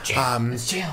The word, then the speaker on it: gaol: This rhymes with Bale, starts with the J. In some different language, I think. It's spelled like Gaol. So. I know what to do. Jail.